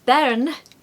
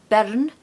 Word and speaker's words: bairn: A wee bairn, and bairn or bern. So again, I'm tapping my R, or I'm just really pronouncing the R.